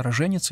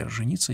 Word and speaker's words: роженица: Ударение здесь может быть поставлено на любой из слогов. Оба варианта верны. «Роженица» или « роженица». Есть два варианта.